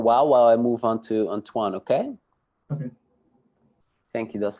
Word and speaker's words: Antoine: I move on to Antoine, okay? Okay. Thank you thus far. Okay. Am I saying it right, by the way? Antoine. Yes, that's it.